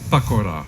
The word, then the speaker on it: Pacora: So this is why this name is pronounced like Pacora.